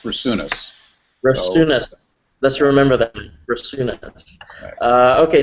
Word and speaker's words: Brasunas: here and uh my last name is pronounced brunus let's remember thatas uh